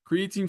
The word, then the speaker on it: creatine: It rhymes with biotin. Yes, you got it. Creatine phosphate.